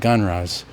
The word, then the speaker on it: GnRHa: along the way so puberty blockers are gnrhas I'll pronounce them genres for short in this presentation there are class of